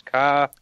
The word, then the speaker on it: Kaya: Kaya, how do you pronounce Kaya? I think it's Kaya. Kaya Monster.